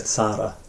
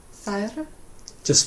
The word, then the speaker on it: Þær: I think you said þara, so Þær. just one syllable.